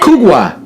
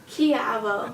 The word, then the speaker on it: Kujawa: How would you say Kugwa. Yeah, Kugwa. Kugwa? Kujawa. AWA? Kugwa. It's pronounced Kiavo.